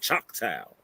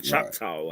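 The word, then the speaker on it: Choctaw: They spell it chakal or chakau. However you pronounce it, something like that.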